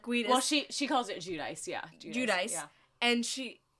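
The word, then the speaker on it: Giudice: No, it's not pronounced like that. Yeah. No. No. Yeah. And literally is like no. She's like, "Wait, what did you just say my name was?" And it's like so funny. I think I think she says Judice, which is criminal. It's G I U D I C E.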